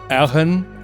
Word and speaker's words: Eogan: It's spelled Eogan, and I imagine it pronounced as like Eogan, right? So it's like kind of hard to pronounce, and so they just call him Egan.